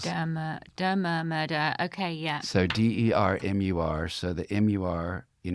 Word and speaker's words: Dermur: And then the latter is murder with the syllables turned around. And that was very specific. So Dermur is murder with the syllables. Dermur, murder.